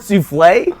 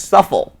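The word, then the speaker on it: soufflé: He knew the word souffle, but when he read it, he read it as suffle.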